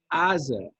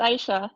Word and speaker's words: Aisha: and Aza. I think I said it right. You're close. It's Aisha.